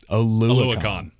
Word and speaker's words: Oluokun: Oluokun.